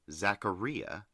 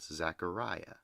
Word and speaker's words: Zacharia: behind the cabin p.s my name is pronounced zacharia not zachariah i think i did